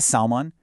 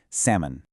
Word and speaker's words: salmon: Similarly, that popular fish you might order at a restaurant, it's not a salmon. Drop the L entirely. It is simply pronounced salmon.